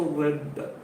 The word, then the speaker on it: read: confuse with that one yesterday i read is correct but pronunciation isn't different the pronunciation is different that is why we are just going so read red red let us see